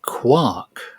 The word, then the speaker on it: Quark: It must be quark or quark. It is. It is. In German, they say Quark because the U is pronounced as a V.